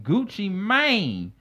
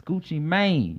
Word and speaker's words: Gucci Mane: I don't know why people still say Gucci Man. It's Gucci Mane. You got to add the E in there. No. The E is silent. Just make it the long A sound.